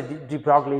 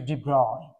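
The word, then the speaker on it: de Broglie: uh uh is spelled like is you know sometime I say drogley it's actually his French so it should be dro that's how you should pronounce his name dro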